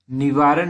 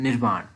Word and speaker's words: निर्वाण: निवारण नहीं, एक्चुअली इसकी प्रोनाउंसिएशन है निर्वाण।